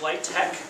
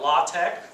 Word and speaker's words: LaTeX: I pronounce it is light tech there's no there's no X there the standard being set